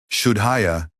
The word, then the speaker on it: Shuddhaya: Shuddhaya has the shy as in shine, the U as in put, and the Da with a soft D, followed by aspirated H.